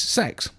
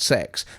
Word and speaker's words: CeX: my GPU, which is CeX. Okay, it's officially pronounced CeX, but everyone in the UK really just calls it CEX.